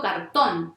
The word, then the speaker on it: cartón: Yo digo cartón, o sea, pongo la intensidad en la penúltima. No, digo cartón, o sea que la fuerza está en la última.